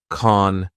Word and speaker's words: can't: Also, notice how Ricky doesn't pronounce the T in can't. We just have the long A vowel sound, like in car, and then the N sound, con, touch.